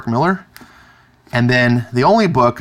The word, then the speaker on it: Millar: prodigy by our boy Mark Millar pronounced Miller and then the only